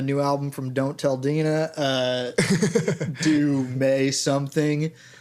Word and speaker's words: Dena: And it's not Dana. That's not That's not how that's pronounced. That's not how the English language works. D E N A is Dena.